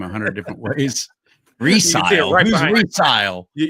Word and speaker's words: Recile: Rec is pronounced Reli. I've heard people pronounce your name a hundred different ways. Recile.